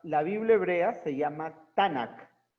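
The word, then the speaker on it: תנך: No hay vocales, pero se pronuncia Tanakh, ¿verdad?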